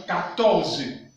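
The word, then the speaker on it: quatorze: Il ne faut pas oublier, nous avons dit que QU, nous avons vu que QU se prononce comme K. Voilà pourquoi ici nous avons 14.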